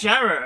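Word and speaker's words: Jarrow: zo is it Jara or Jara well it's Jara of course yes jarro or Jara well we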